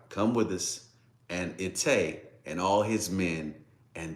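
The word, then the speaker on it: Ittai: But Ilta, well, it's pronounced Itay, but Itay of Gath, he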